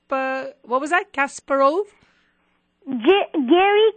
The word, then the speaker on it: Kasparov: Kasparov? Garry Kasparov.